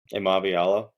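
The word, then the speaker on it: Iamaleava: Does anybody know how to pronounce his last name? Amaviala.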